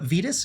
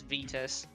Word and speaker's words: Vitas: right sorry we're about talking all right uh venus go ahead and enter how do you did i say that right or is it vitus uh it's it's it's vitus it was originally with a w but no